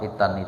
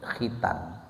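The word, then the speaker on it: حيتان: Filma Apa hitan itu pakai ha ya jangan pakai k pakai k jangan kalau nanti bacanya pakai Ko nanti bedanya jadi khitan khitan itu ya sunat itu Tapi kalau pakai ha hatal hitanu itu berarti maknanya ikan ikan-ikan yang ada di sungai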